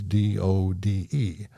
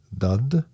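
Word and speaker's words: døde: The Norwegian pronunciation of died is dud, and the Danish version is dod.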